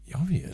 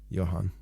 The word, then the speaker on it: Johan: Jovian. Like Did you get autocorrect? Jovian. Maybe that's how you say it, but I'm pretty sure they say Johan.